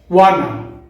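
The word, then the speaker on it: wanna: যেমন ওয়ানা, গনা, গটা, অটা এবং গচা।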